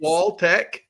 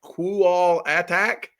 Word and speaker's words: Qualtech: Qualtech is Qualtech. No big deal. Just Qualtech. It looks like Qual Attack. That's not it.